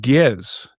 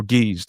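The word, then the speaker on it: Ge'ez: of Ethiopia, which is called Giz or Geese, depending on how you pronounce it.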